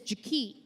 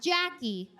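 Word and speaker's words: Jakee': Her name is Jaki. Not Jackie, Jaki. It's spelled J-A-K-E-E'.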